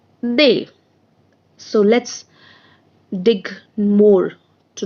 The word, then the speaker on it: des: Spelling is DES and the pronunciation is they.